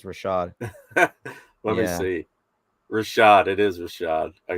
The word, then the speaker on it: Rashad: spelled his name wrong there um is it richard or rashad that spell that right um it's uh it's rashad rashad i think i i don't think no